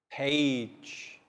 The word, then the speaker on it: page: Page. We must read every page in our textbooks. And once again, the G in page, same as cage, pronounced like J.